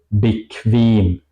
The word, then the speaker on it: bequem: La pronunciación alemana es siempre juntos con una U. Por ejemplo, Qual, Qual o bequem. Qual sería tortura, bequem sería cómodo. Se pronuncia más como una K y una W en español, diría yo.